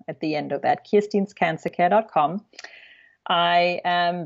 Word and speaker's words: Kirstin: IR s TI n so it's not Kristen though it's Kirsten que IR s TI